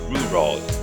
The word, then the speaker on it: rural: And the next word there is like you call it rural, not rural, but rural. Can I hear the sound Rural.